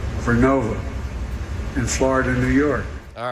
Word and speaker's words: Vernova: into turbines made by GE Verona. Excuse me, I mispronounced it. Vernova in Florida, New York. All right, so that's it. We're making wind towers by GE Narova, and he mispronounced it.